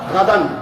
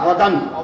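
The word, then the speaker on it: غدًا: ভাই আমার, নবী সাল্লাল্লাহু আলাইহি ওয়াসাল্লাম রমাদানের রোজারও একটা নিয়ত আমরা বানিয়েছি, নাওয়াইতু আন আসুম্মা গাদান। শব্দটা হচ্ছে আসুমা গাদান, আর আমরা বলি নাওয়াইতু আন আসুম্মা গাদা, গাদা বানিয়ে দিলাম নাওয়াইতু আন আসুম্মা।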